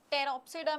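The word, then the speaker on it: Pteropsida: टेरोप्सिडा में, 'P' silent होता है; इसका उच्चारण इस प्रकार होता है, जिसमें 'P' साइलेंट रहता है।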